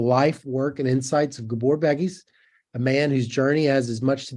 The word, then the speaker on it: Gábor Békés: It's Gábor Békés, but that was close enough.